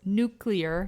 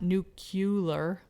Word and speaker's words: nuclear: that one too prescription it's nuclear not nuclear yeah nuclear i knew